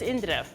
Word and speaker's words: Indira: So how you pronounce it is Indira.